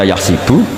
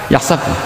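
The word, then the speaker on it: يحسب: Karena dalam qiraat sabah ada yang baca yahsibu. Qiraah kita baca yahbu. Tapi guru-guru kita kalau ngajar fikih itu bacanya yahsibu. Tapi kalau baca Quran yahsabu. Ya kan Quran kita kan ayahsabu alla yaqdir alaihi ahad. Bukan dibaca ayah sibuk.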